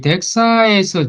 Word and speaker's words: DXA: 지금은 이제 DXA라고만 씁니다. 그리고 읽기는 덱사라고 읽습니다. 그 다음에 이 덱사에서 G스퀘어를 보면은요, 이건 좀 다르죠.